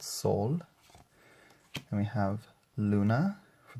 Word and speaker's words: Sol: Then we have Mother Earth, the sun, or here it's pronounced Sol.